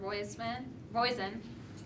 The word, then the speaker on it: Roizen: We have Dr. Roizen, rhymes with poison.